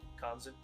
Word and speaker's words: Konzin: Is that how you pronounce the name? Konzin? Yeah. Yeah. Yeah.